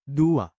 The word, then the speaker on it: duwa: Change A to AH and U to OH, then pronounce it as Dua.